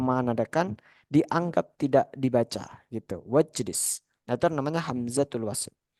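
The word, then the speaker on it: واجلس: Ijlis, wajlis bacanya. Wajlis. Unzur, wanzur. Wanzur. Jadi alifnya nih dianggap tidak ada.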